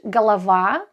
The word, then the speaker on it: голова: For example, if we take the word голова, look at this. Голова, головы, головы, голов, голове, голову. So you can see how the stress shifts throughout the word.